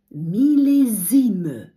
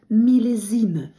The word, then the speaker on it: millésime: його у французькій мові мілізн С між двома голосними читається як з мілезн І що це таке